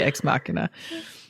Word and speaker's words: Ex Machina: For everybody listening, we watched, the last time she was here, we watched the movie Ex Machina.